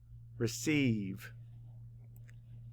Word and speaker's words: receive: And we actually hear more than one E sound in this word. And the first one is just spelled with a long E because it's an open syllable. But how do we spell that middle one? E-I, that's right.